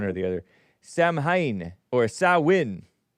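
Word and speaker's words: Samhain: Sam s it looks like Sam Hayne s a m h a i n but it's pronounced s ah all cap. Sawin Sawin Sam Hayen Sawin was a pagan festival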